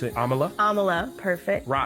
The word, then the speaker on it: Amala: to butcher it, but I do know Amala is how you pronounce her first name because she has said it before in interviews.